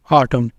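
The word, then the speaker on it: autumn: कुछ एग्जांपल्स है column आटम तो यहां पे हम लम या लन नहीं बोलेंगे लम यह एन क्या है साइलेंट है यहां पर लम ऑटम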